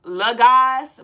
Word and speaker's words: Logas: So it is pronounced Laz, but it is spelled low gas.